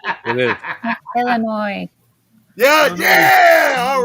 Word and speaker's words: Illinois: way you mispronounce it it's Illinois no no no it is not ill you not French isn't silent you're not French the isn't silent no the s is silence it is Illinois yeah yeah all right